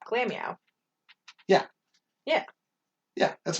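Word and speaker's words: Glameow: say it that way it's glam meow like it's all one word glammy out it's glam and meow are both being said that's why it's that glamio yeah yeah yeah that's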